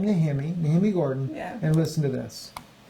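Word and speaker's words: Nehemia Gordon: Gordon, and he pronounces his name Nehemi Gordon.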